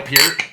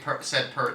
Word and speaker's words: Peart: raise our glasses to Ooh, I Neil like Peart. that. Yeah. Yes. Yeah. Yes. Fuck yes. Dude, good call. Wait, Neil Peart died from Neil Rush. Peart died? Yeah. Neil Peart.